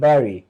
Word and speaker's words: bury: এইবার ডিড আছে, ডিড হচ্ছে ভার্বের ভি টু, bury মানে কবর দেব, এটা উচ্চারণ বাড়ি না কিন্তু bury, bury।